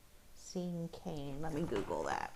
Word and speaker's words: cinquain: to read blank cinquain I think you say sink cane I think that's how you say it seeing cane let me google that